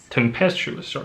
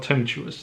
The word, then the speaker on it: tempestuous: temptuous flatulent flatulent yeah is it pronounced temptuous tempestuous not temptuous tempestuous empty airy windy boisterous